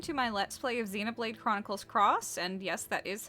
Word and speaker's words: Xenoblade Chronicles X: everyone, it's Bloom here, and welcome to my Let's Play of Xenoblade Chronicles X, and yes, that is how it's pronounced.